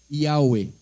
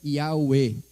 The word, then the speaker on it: Yahweh: Dessa forma ali, são 4 consoantes hebraicas, um Yud, um Rei, um Vav e um Rei. E se costumou dizer que a pronúncia disso seria, em português, seria essas letras ali, né? O Y, o H, o W e o H. E se convencionou dizer que foi Yahweh.